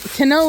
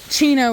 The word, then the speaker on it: Kino: Kino is the correct pronunciation, but Chino is what most people call him here in America.